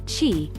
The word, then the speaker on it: qi: meridians these pathways allow energy she pronounced chi to circulate through the